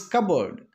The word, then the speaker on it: cupboard: It is not cupboard, it is cupboard. P is silent.